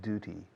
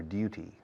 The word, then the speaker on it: duty: I do it out of a sense of duty or duty. Dos pronunciaciones para deber. Duty, duty. Both are correct.